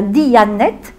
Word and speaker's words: Diyanet: Atatürk a créé un organisme rattaché au Premier ministre, ça s'appelle la Diyanet, comme ça se prononce, et c'est cet organisme-là qui gère les affaires religieuses musulmanes sunnites.